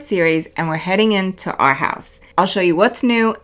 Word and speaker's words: Arhaus: At first I thought the name was Our House, but it's pronounced Arhaus. They're known for sustainability, using reclaimed wood, hand-forged materials, and partnering with artisans around the world.